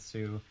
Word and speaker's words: Suh: It's Ndamukong Suh.